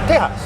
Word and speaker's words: Tejas: It's officially pronounced Tejas.